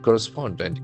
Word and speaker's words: correspondent: The accent falls on the third syllable.